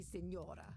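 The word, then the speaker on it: señora: You may call me senora. Oh God. Senor. All right, seen Nora? No, I have not seen any Nora. Well, who's Nora? Ignoremos. It is senora.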